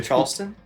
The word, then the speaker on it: Charleston: say charleston really weirdly charleston yeah i don't say the r because that's how it's pronounced sure that's okay that's